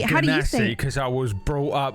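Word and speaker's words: Genasi: Uh Janasi.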